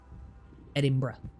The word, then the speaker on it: Edinburgh: That's how you pronounce that. Edinburgh.